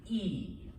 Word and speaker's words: y: that use the word e remember this is the letter y but when it's all by itself it's pronounced e and what does e mean